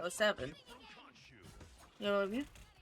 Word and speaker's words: 07: No, you pronounce it 07. Yeah. Instead of saying zero, you go O for the first one.